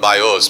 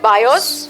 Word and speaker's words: bios: Number 1 is the word called bios, B-I-O-S. तो पहला शब्द है बायोस, Means the blood which is related to your body.